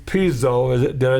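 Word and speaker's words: Pizzo: Angelo, I believe it's Piso, is did I say it right? Yeah, Angelo Piso.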